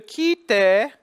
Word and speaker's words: quitte: We're going to say just, tu m'appelais, and then we're going to go, et je quitte. There's your QU spelling again, and the U is silent, so the QU becomes a K sound.